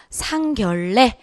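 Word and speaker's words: 상견례: 그럼 그건 뭐 죠 ? ' 상 결래 '. 이렇게 발음 해야 합니다 .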